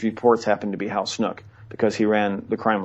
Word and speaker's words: Snook: It's spelled S-N-O-O-K.